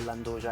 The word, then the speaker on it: 'nduja: Perché a Spilinga il nome di questo prodotto è appunto Nduja. Oggi è italianizzata e si chiama Anduia, però per noi è l'Anduja e siamo molto gelosi di questa pronuncia.